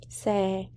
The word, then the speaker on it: xe: Xe. That's how you say it. Yeah. The X in Vietnamese is sờ, not the like xylophone. Well, so learn is a pretty cool feature.